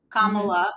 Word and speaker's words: Kamala: before Kamala dropped out Kamala get it that's how you say it if you're GNA say it correct people when they mispronounce her name it's comma like a comma and then love I have done that